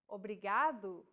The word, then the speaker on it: obrigado: Obrigado obrigada Obrigado obrigada do you remember how we talked about pronunciation of the letter R here in lesson two don't pronounce it like an English R don't roll your tongue listen to how Anna is pronouncing this sound the think of the quick tapping motion your tongue makes as it strikes the top gum Ridge in words like ladder or butter altogether it's Obrigado obrigada